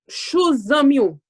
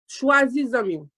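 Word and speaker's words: chwazi zanmi ou: Okay, this is the proper way to say that. Chou zami ou. I mean, yeah, chwazi zami ou.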